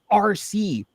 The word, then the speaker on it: Arce: I named her RC. It's spelled ARCE.